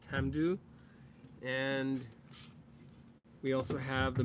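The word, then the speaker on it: Tamdhu: do what you know however the the Gaelic is pronounced Tam do and we also have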